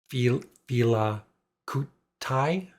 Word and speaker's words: Fela Kuti: Fela Kuti, that's how you pronounce it.